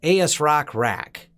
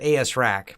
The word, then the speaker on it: ASRock Rack: i they're probably right it's asrock rack i thought it was called i've seen people call it a s rack but i think it's the actual name of it is